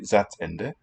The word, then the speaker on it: Satzende: We could contrast it there, but generally it should be Satzende.